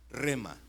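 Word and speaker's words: rhema: Para los que están tomando notas, rema se escribe R-H-E-M-A, rema.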